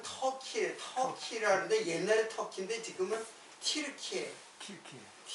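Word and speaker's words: Türkiye: 터키라는데 옛날에 터키인데 지금은 티르키예요. 키르키에 티 키르키에라고 했죠. 이거는 이제 터키라는 이름은 이제 안 사용해요. 왜냐하면 옛날에는 이게 터키 터키 했는데 지금은 그 그라 발음을 그대로 어 발음에 가깝게 사용하려고 틸케어라 그죠.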